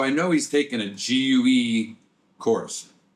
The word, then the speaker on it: GUE: So, I know he's taking a gue course. It's gu. It's not goo.